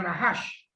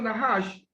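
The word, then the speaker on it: נחש: El término serpiente en hebreo corresponde a una palabra que más o menos pronunciada sería nahash. Y ese término nahash es un término bastante parecido al silbido de la serpiente.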